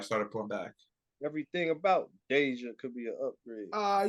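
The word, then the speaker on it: Deejah: it yeah it's right that's how she pronounce it Deja yeah it's not even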